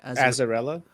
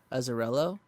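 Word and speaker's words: Azzarello: how do you say his last name brian azarella azarello that one was is it dark it's it's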